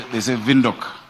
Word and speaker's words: Windhoek: Oh, of course, my very good friend, Queen, the mayor of Windhoek, Namibia. They say Windhoek. We need to learn how to pronounce it.